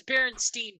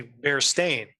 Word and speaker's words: Berenstain: oh let's pronounce it it was it was Berenstein bears yeah Barristan that's what I remember but the book is actually bear stained yes here in this